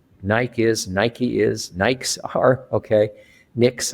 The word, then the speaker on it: Nike: Nike is pronounced about 5 different ways around the world.